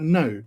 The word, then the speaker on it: know: But now we would say no. So literally the first letter and the last letter you don't even pronounce. You just pronounce the two middle letters. And no, Know, is pronounced the same as no and O, which are the two middle letters in that word, but also a separate